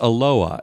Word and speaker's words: Aloha: he's from aloa Oregon aloa Aloha no it's pronounced aloa it's spelled like Aloha the Hawaiian word but